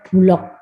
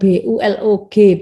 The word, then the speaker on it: Bulog: Ini ditulis menggunakan huruf kapital, contohnya Bulog. Badan Urusan Logistik. Bukan BULOG bacanya, tapi Bulog ya.